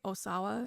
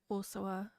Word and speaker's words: Osawa: ever heard it said Osoa. So, I'm going to say Osawa.